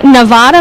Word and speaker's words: Nevada: absolutely now you're from Nevada Missouri never realized there was a Nevada Missouri it's it's pronounced just like the state of Nevada but uh pronounced Nevada Missouri long a so Southwest Missouri small